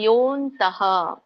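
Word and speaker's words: ಯೋಽನ್ತಃ: ಇದರ ಉಚ್ಚಾರಣೆ ಹೇಗೆ ಬರುತ್ತೆ ಯೋಂತಹ ಯೋಂತಹ ಅಂದ್ರೆ ಇಲ್ಲಿ ಎರಡು ಪದಗಳಿದೆ ಯಹ ಅಂತಹ ಅಂತ ಹೇಳಿ ಯಹ ಅಂತಹ ಕೂಡಿಕೊಂಡುಬಿಟ್ಟು ಯೋಂತಹ ಅಂತ ಆಗುತ್ತೆ ಇಲ್ಲಿ ಎಸ್ ಅಂತ ಕಾಣ್ತಾ ಇದೆಯಲ್ಲ ಮಧ್ಯದಲ್ಲಿ ಓ ಆದಮೇಲೆ ಅದು ಅವಗ್ರಹ ಅಂತ ಕರೀತಾರೆ ಹಾಗಾಗಿ ಆ ಅವಗ್ರಹದ ಒಂದು ಉಚ್ಚಾರಣೆ ಅ ಆಗಿ ಬರುತ್ತೆ ಹಾಗಾಗಿ ಯಹ ಅಂತಹ ಅಂತ ಕರೀತೇವೆ ಅ ಹೇಳಿ ಅಂತಹ ಅಂತ ಹೇಳ್ತೇವೆ ಆಮೇಲೆ ಮುಂದೆ ಸುಕೋಂತಹ ಸುಕೋಂತ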